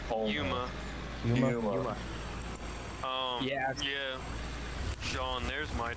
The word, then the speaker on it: Yuma: How do you pronounce that? Uma? Yuma.